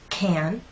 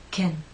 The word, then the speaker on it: can: The stressed can makes you pull your lips out and your tongue is rather flat and pushed forward.